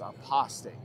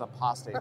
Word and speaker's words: Apostate: it's not prostate it's apostate yeah see I told you aost somebody tell Matt Booth it's pronounced apostate not prostate all right so brother